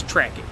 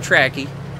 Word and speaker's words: Ptracki: Starts with a P, but it's Ptracki, I believe.